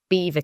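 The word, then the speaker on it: Belvoir: I'll have to correct you, though. It's Beaver Castle.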